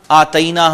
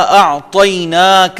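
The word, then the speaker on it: أعطيناك: Under line کرنا ہے کہ ہم آتینا ہم پڑھتے ہیں، اور کوثر ہم پڑھ جاتے ہیں، اور دونوں یہ پروننسیشن غلط ہیں. یہ آپ نے تلفظ میں ان دونوں لیٹرز میں آپ نے محنت کرنی ہے. میں پھر دہراتا ہوں، انا اعطیناک الکوثر.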